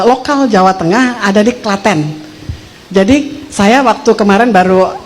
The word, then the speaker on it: Klaten: tulisannya bahasanya Britain ternyata dia menyebut Klaten tuh k beneran waktu dia ngomong tuh aku engak apa sih maksudnya apa gua bego banget gitu ya enggak ngah gitu enggak nangkap Oh Klaten rupanya Klaten dibacanya gitu ya Dan ini produk